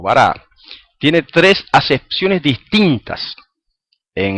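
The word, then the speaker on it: ברא: Fíjense, la palabra creó, dice en hebreo dice bará, aunque algunos lo pronuncian baró.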